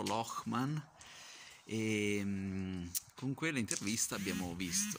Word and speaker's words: Lochman: buona locman rock ma ecco amy insegnano a pronunciarlo locman con quella intervista abbiamo